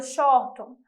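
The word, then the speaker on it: Shorthorn: um gado de uma raça chamada shoto é exatamente assim a pronúncia esse gado ele tem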